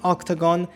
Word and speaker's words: OCTGN: of making this video it's spelled ocgn pronounced octagon and in this video